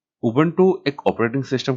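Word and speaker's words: Ubuntu: उबंटू का जो pronunciation है वो उबंटू होता है।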